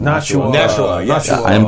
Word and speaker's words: Nashua: I am pronouncing Nashua.